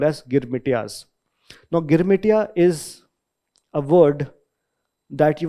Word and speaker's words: Girmit: So they ended up pronouncing this word as girmit. In Bhojpuri, in Awadhi, they would say it Girmit.